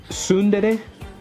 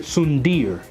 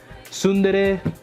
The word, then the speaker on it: tsundere: fun fact about myself, back when I first discovered the word tsundere, I used to actually pronounce it sundir. And then I would say yandir and kudir.